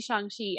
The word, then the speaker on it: Shang-Chi: Yeah, it should be pronounced Shang-Chi, but I don't think anybody's really going to get mad if you say Shang-Chi.